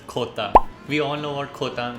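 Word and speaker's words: jota: Letter J in Spanish is pronounced as khota.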